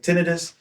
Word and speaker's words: tinnitus: I did Google it beforehand and it is pronounced like tinitis and here's evidence of the Google pronouncing it right now. So we're going to try for tinidis.